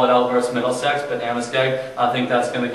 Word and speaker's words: Amoskeag: Amoskeag. Yeah, that's how you pronounce it.